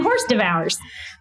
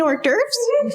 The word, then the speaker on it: hors d'oeuvres: Do you mean hors d'oeuvres? Is that how you say it? Oh, wow. I've only ever seen it written down.